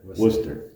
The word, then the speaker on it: Worcester: and that's, I'm sorry, I'm pronouncing that completely Everybody, Worcester is usually the So how's it pronounced again? Worcester. Worcester, okay.